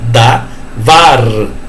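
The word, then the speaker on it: דָּבָר: Davar, o R tremido na língua, davar, tá?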